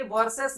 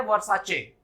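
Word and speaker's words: Versace: इन अ same way ये वर्सेस नहीं है, ये है वर्साचे।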